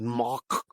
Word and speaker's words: Moog: and he was saying in holland they pronounced it mock he said in germany it's quite common they refer to it as moog he said but in